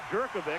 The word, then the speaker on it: Jerkovic: Knapp, Taylor, McGuire, Jerkovic, and that's the way he wants it pronounced, and Hall up front.